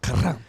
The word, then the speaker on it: Karam: Karam.